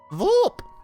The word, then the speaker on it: Voop: Like his name is Voop. Voop. He prefers to have the the emphasis on the syllable.